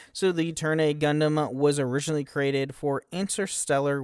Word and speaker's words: Turn A Gundam: It's the system turn a 999 turn a Gundam pronounced turn a Gundam aka it's is literally